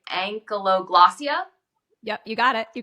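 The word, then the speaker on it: ankyloglossia: and like medically they're called how do you pronounce it it's like ank glossia yep you got it you got it okay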